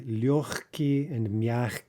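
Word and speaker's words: лёгкий: thing in two adjectives light and uh soft we say lyoki right so again there we have the that's devoicing in front of the unvoiced consonant again that's very unusual and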